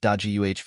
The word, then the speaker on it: Dage: Deji is pronounced Daji chapter 236 because although